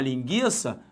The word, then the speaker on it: linguiça: vai comer uma linguiça a pronúncia continua sendo a mesma só houve uma mudança ortográfica o acento no caso chamado o trema né agora não vai ser mais treinada aquela forma ali os dois pontinhos eles não aparecem mais mas a pronúncia ela se Manteve a mesma ok então beleza com